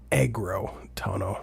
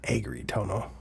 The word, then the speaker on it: Agrotono: It it it's agro tono, not agri tono. Oh, did I mispronounce it? Agro tono. Yeah. Yeah, I did, didn't I? You said agri tono.